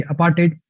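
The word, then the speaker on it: apartheid: अपार्टेड, अपार्टेड इसकी जो pronunciation होती है कुछ ऐसी है, अपार्टेड, अपार्टेड, अपार्टेड, ऐसी प्रोनाउंसिएशन है इसकी।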